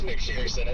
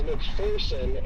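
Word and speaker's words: McPherson: Is McFersonson, isn't it? It is apparently not. It is McFerson. And even the town cop uh clarified that when me and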